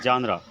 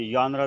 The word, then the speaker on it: genre: करते हैं, लेकिन मुझे जैसे कि इसको जानरा भी कहते हैं, यानरा भी कहते हैं, जानरे भी कहते हैं या यानरे भी कहते हैं। तो जो भी आपको पर्टिकुलरली सूटेबल लगती है आप इसको प्रोनाउंस कर सकते हैं, लेकिन ज़्यादा जो कॉमन है वो है जानरा।